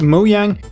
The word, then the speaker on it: Mojang: of October and today moyang and yes it's pronounced moang released a new snapshot for Minecraft 1.9 the